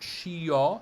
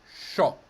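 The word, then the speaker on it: sciò: look at this word s-c-i-o is not shi-ya it's just sho yeah if for some reason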